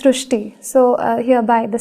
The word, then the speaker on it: Srusti: So in Marathi, the word Ri is pronounced as Ru. So that is why the pronunciation goes Srusti.